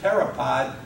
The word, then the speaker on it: pteropod: notice we pronounce it pteropod even though it begins with the letter p something like psychiatrists psychiatrists begin with the